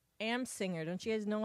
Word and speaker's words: Amsinger: we can have your friend from MLB Network, Grant Assminger. Amsinger.